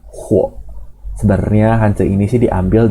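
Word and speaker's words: 火: Bacanya huo.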